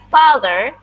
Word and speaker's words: father: My father, ini dibacanya juga pakai A.